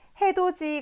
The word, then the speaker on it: 해돋이: 자, 해돋이 같은 경우에는 표기할 때는 해돋이로 표기하지만 실제로 발음할 때는 이 해돋이의 디귿 받침을 우리가 발음할 때는 지읒으로 발음하게 되는데 이 디귿이 지읒으로 발음되는 까닭은 뒤에 오는 형식 형태소 이 이의 영향을 받아서 그렇습니다.